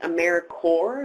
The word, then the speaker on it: AmeriCorps: Vista and it's pronounced AmeriCorps like core of viewers not corpse but core so AmeriCorps VISTA very good question